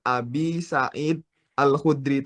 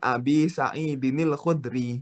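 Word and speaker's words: أبي سعيد الخدري: Jadi di Arab itu tidak boleh ada putus gitu loh. Nggak boleh ada wa'an Abi Sa'id Al-Khudri, itu nggak bisa kayak gitu. Jadi wa'an Abi Sa'idinil Khudri gitu. Cara bacanya seperti itu.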